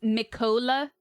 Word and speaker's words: Mikola: Michaela is supposed to be normal. Pronounce Mikola?